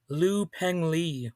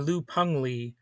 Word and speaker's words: Liu Pengli: And this is an episode on Liu Pengli or Liu Pengli. I've heard it pronounced both ways, so I do believe it's pronounced more like Peng, but sort of with an E sound in there as well.